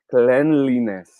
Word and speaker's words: cleanliness: This word should be pronounced as cleanliness.